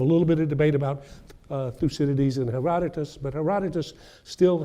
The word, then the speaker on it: Thucydides: Thucydides. So let's see if you can say that. Thucydides.